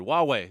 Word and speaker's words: Huawei: this announcement regarding the well how do you pronounce it Richard Huawei that's right H you awwe i doesn't it